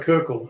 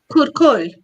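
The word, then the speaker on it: куркуль: Like if you're a Kirkle, a landowner, is that the right pronunciation? Kirkle? Kurkul, kurkul.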